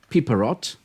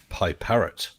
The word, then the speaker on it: Piperot: I have number 9, Piperot. I hope I'm pronouncing it correctly. Oh, you're not. It's Pie Parrot.